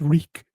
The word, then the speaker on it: Reek: tell me your name my name is reek it rhymes with freak still the case with